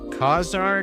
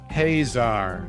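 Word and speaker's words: Ka-Zar: they did it correctly haar okay so I had a had right tar emphasis on the first syllable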